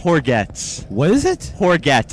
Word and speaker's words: Hourguettes: It's got a little French origin to it. Horgetts? Yes, Horgetts. How do you spell it? Hourguettes. Wow. So it's a mouthful. It's like baguette. A little like baguette.